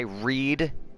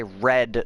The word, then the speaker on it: read: It is spelled the same, but it is pronounced differently. I read in the present tense, and I read something yesterday.